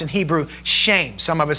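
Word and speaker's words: שם: The word the word name in English here is is is pronounced in Hebrew shame. Some of us say shm. All right? But it's actually pronounced shame.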